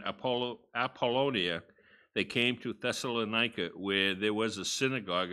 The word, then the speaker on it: Thessalonica: no idea how to pronounce i have been pronouncing it as thessalonica for many many years and my understanding the correct pronunciation is thessalonika so let's begin reading now when they had